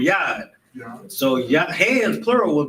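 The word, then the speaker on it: יד: Hands, a hand is a yad, or that's how you say it in Hebrew, yad.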